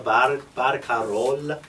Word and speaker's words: barcarola: I'm missing your final L's. Presto a barcarola.